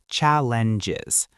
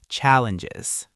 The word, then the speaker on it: challenges: Challenges. The stress is at the beginning and that ng sound at the end is very soft. Try it with me. Challenges.